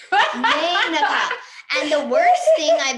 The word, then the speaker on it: Meneka: Like, the silent E jumps over and they will hit the A to make A. Meneka.